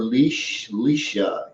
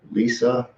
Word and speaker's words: Lisa: And one thing that Lisa, okay, she just pronounces it Lisa. Okay, Lisa, Mona Lisa.